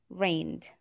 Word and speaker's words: reigned: And then we have reigned. Reigned. Okay. And the G is silent.